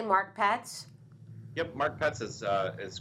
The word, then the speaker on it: Marc Petz: pronounce it correctly mark well good did I pronounce your name correctly mark pets yep mark pets is uh is correct okay great and Mark